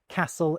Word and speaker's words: castle: We stop pronouncing the T's in words like castle and hasten, and the L's in folk and palm disappear for a lot of people.